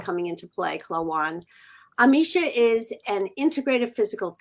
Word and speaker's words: Klawonn: Klawonn. My Philadelphia accent coming into play, Klawonn.